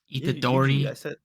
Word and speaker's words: Itadori Yuji: Itadori. Yuji.